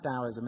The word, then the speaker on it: Taoism: Taoism, the old ancient philosophy of China, it used to be spelt Taoism, T-A-O, but it's pronounced Taoism and spelt now D-A-O.